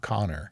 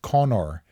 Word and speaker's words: Conor: you know that because his name is not Connor it's Nat Co n n r I looked it up it is Conor and so you have to say it Irish because it's spelled c n o r say it Conor Conor McGregor known as